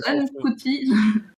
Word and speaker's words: Ncuti: Alors, ça se prononce Anne Couty.